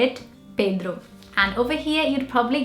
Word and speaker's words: Pedro: And in Brazil, we say it Pedro. And over here, you'd probably get Pedro, I don't know. But yeah, in Portuguese, it's definitely Pedro. It's a very closed E sound, Pedro.